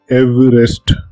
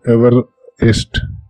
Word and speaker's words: Everest: What is worse, the Welsh pronunciation is actually Everest, not Everest.